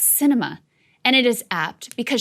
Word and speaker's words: Sinema: film init dowd writes the arizona senator's name is pronounced cinema and it is apt